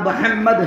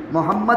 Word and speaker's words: محمد: جب تک ایک ہونٹ دوسرے ہونٹ کو چوم نہیں لیتا ہے تب تک محمد کا تلفظ بھی نہیں ہوتا ہے. کہو صلی اللہ علیہ وسلم, ایسا پیارا نام ہے. لیکن ممدہ بولتے ہیں, کتنا غلط نام ہے.